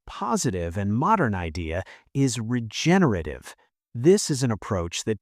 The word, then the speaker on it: regenerative: By the way, let's practice saying that word: regenerative. The stress is on the second syllable, regenerative. Regenerative.